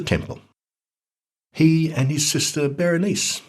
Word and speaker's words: Berenice: he and his sister berenice which is probably pronounced byron nike publicly appealed for khan